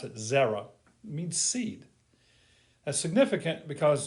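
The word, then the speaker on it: זרע: it looks like this is how you would pronounce it zera means seed that's significant because in genesis 3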